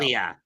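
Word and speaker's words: Ilja: How do you pronounce his first name? I could never figure out. Ilia.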